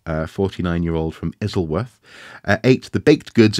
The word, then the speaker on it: Isleworth: the capital city um but um it's actually isleworth actually no no you're right you're right I